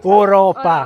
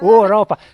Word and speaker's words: Oropa: We are the DueInCammino and this is the second stage of the Way of ?Oropa! (wrong accent) Oropa!